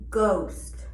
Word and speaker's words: ghost: H is silent when it follows the consonant G, ghost, or K, knob, or R, rhino.